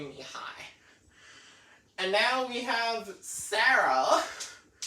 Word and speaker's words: Mihai: Now, because in the previous video I pronounced it as Mihaly, but it's actually Mihai.